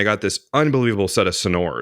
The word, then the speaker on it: Sonor: it is everything else feels like indulgent son sonor it's like sounds like snor it's just like